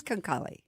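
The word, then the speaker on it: Çanakkale: And I'm going to butcher the names. They'll correct you when you're in destination. Konkalli. It is Konkalli.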